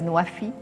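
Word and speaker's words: نوفي: water food and energy pronounced in Arabic as naafi which means uh fulfilling pledges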